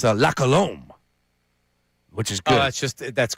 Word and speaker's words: La Colombe: La Colombe.